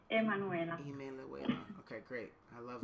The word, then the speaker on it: Emanuela: Do they pronounce the E or they just call it Manuela? No. Emanuela.